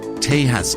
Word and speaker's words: Tejas: a real Texan Rodeo or as they call it Tas Rodeo spelled with a J so I left my